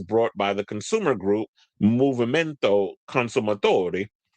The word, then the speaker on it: Movimento Consumatori: The lawsuit was brought by the consumer group Movimento Consumatori, you got to say it like you're Italian, which challenged the legality of Netflix's repeated subscription increases in Italy.